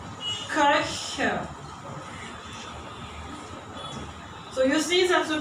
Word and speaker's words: Köche: So this one is pronounced Koch, and when it is in plural, I have to pronounce it from the mouth. Köche.